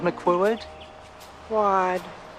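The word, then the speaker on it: McQuoid: she explains um uh how to pronounce her name is like wonderful are you Ms McCord quad one syllable well two syllables second part is one syllable wad my quad and and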